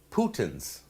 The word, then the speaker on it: poutine: You guys told me about a product called Poutines.